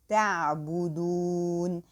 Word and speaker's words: تعبدون: تعبدون. So here also I have to pronounce this whole word all light because all letters are light.